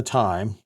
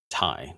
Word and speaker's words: Ti: 90 not even the time some people say TI but I have I have heard that nvidia's pronunciation of it is Tai not TI um I guess I'll